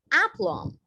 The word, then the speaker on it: aplomb: next word now remember you do not pronounce the b here it's just apple right i'll repeat for you it's called aplomb right there is no